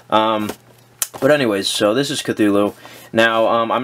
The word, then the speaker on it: Cthulhu: Cthulhu properly until recently I've always pronounced it to tulu but apparently it's pronounced Cthulhu I don't even know